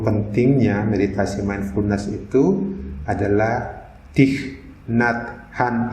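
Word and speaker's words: Thích Nhất Hạnh: beritasemen punes itu adalah diknat Khan ini dia orang Vietnam bacanya Cik natham dia nulis begini dalam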